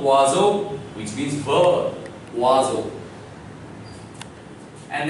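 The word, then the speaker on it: oiseau: O-I gives wa sound, S coming in between vowel gives a sound, and E-A-U, you have just learned that it gives O sound. So all the syllables together give rise to the sound wazo, which means verb, wazo.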